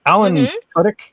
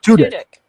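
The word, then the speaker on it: Alan Tudyk: Uh it's Alan Tutk. Tuttk. I think that's how you say his name. Alan Tudk. Yeah. Tudic.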